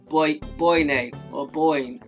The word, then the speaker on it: Boyne: And I say Boyne like it because it's spelled Boyne.